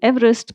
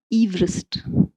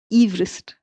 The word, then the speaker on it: Everest: name because I'm saying Everest but that's not how he pronounced his name. He pronounced it Everest. Everest.